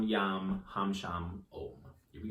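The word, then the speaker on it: यं: Yam, as in yummy.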